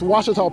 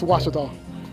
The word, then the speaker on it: Ouachita: How would you pronounce it? Ouachita. Ouachita. It's Ouachita Baptist University. Get it right. It's Ouachita, people. It's Ouachita. Ouachita.